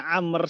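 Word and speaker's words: عمرو: Amru toko babi nomor yang sebab Kalau tulisannya Amr seperti ini itu ada WOW nya ada baunya disini seperti ini Hai ini bacanya Amr Apa bahasa Indonesianya seperti ini Anger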